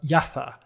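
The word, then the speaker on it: IIASA: guests refer cryptic into something that they pronounce as yasa um what they're actually referring to here is the international institute for applied systems analysis in austria or i i asa or yasa i suppose um so now you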